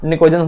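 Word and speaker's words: pnictogens: यह क्या होता है पी जो इसमें साइलेंट होता है एक ग्रुप 15 वाले तत्वों को हम लोग nikojans मेटल कहते हैं ये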